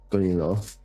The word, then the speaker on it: vahingonilo: It's not Leo, it's Ilo. Gonilo.